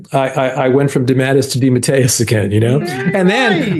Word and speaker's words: DeMatteis: thing here's just so you know the Italian pronunciation is Deus the family came through America it got squashed into dadus right so I accept dadus but my father